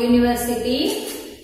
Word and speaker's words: university: University, U, U ka, this one, U, Y-O-U. This pronunciation is university, unique.